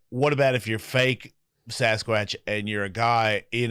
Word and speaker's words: Sasquatch: It's pronounced Sasquatch.